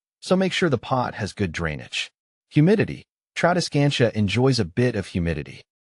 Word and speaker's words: Tradescantia: The pronunciation of Tradescantia is Tradescantia.